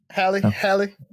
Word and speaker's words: Halle: Halle.